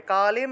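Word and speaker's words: কালিং: করব তা দেখুন প্রথমে কালিম অনুস্বার থাকায় ম উচ্চারিত হবে কালিম রত্না নিবদ্ধা নিবদ্ধা নু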